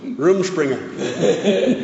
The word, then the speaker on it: Rumspringa: Yeah, Rumspringa. That's how you pronounce it.